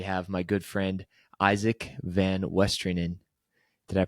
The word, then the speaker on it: VanWestrienen: Today we have my good friend Isaac Van Westerin. Did I pronounce that right, Isaac?